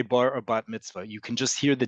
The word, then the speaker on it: bat mitzvah: But in modern Hebrew, the emphasis is always, the default is always on the last syllable. So it's bar mitzvah, bat mitzvah.